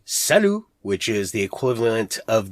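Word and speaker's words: salut: shops i just find it easier to say salu which is the equivalent of the italian ciao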